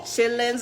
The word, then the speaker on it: chitterlings: to feet some wrong chitlins are better and that's how you say it in Kentucky chitterlings is lazy you are absolutely right